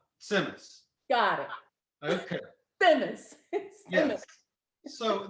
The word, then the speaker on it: tzimmes: dish is called semes so it's like a ts semes which is yiddish for a simmering dish okay so it's but in yiddish this set is like it's you put a little tea in there so stimus yeah yeah that's good